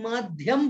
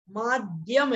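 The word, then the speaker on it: माद्यम: माध्यम नहीं बोलना है, कुछ लोग माध्यम बोल देते हैं, भाई माध्यम नहीं है, माध्यम है। द्यम, दा और या को मिलकर के यहाँ पर द्या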